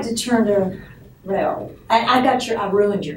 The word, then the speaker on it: Rahul: So I remind people that 99% of this country can pronounce Bobby Hull. They can also pronounce Rahul.